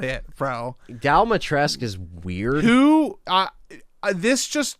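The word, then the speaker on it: Dimitrescu: d is on the phone again so um dalmatresk is how you say it um so i ethan said it in the demo i would she not dummy tress domitresk domitresk i'll play it again domi tresk stress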